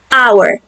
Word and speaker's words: hour: Nah, ini juga sama huruf pertamanya H ini konsonan. Tetapi pas kita baca kata ini our, H-nya silent. Oke. Hour.